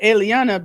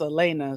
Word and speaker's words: Elena: Listen, I used to call her Eliana because of how her name is spelled. But she said it's Elena.